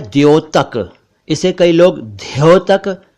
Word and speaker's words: द्यूत: कई लोग इसे धूत कहते हैं, धूत या ध्यूत, जो कि गलत है। सही उच्चारण मैंने बता दिया, द्यूत क्रीड़ा।